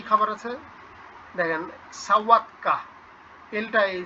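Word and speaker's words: sałatka: কি খাবার আছে দেখেন, সাওয়াতকা, এলটা এই যে আছে সালাতকা উচ্চারণ, পরের পেজে প্রথম লাইনে দেখেন সাওয়াতকা, কিন্তু এটা তো এলটা কেটে দেওয়া, তো এটার উচ্চারণ তো হয় ও, তো সাও সালাদ, অর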